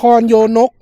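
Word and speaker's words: นครโยนก: มั้ย อะไร นคร โย อ่าน ว่า อะไร ครับ อ่าน ว่า นคร โยนก นาพันธ์ อ่า นาคพันธ์ เนาะ อ่า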